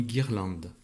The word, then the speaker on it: guirlande: Une guirlande. Une guirlande. Encore une fois, G et U sont associés pour chanter G.